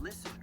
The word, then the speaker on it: LISAN: So I'm going to give you an acronym to help you listen better. And the acronym is LISAN, pronounced listen.